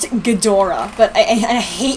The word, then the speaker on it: Ghidorah: It's pronounced Ghidorah, but I hate how she says Ghidorah.